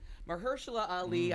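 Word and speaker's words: Mahershala: say his name correctly Mahalo Ali I no longer had that fifth syllable no I was saying like martial law I was going I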